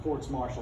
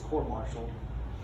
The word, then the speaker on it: court martial: or maybe court martial yes i said it right not quartz marshall but it's court martial um look at tax